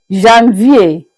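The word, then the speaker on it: janvier: We began by saying that January January is pronounced as Jean V.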